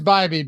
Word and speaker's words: Bibee: It is Bibee, but it doesn't sound right.